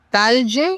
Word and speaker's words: Talge: Sí, fíjate, es un nombre no muy común porque es de origen libanés y se pronuncia Talge y el apellido se pronuncia Samaha.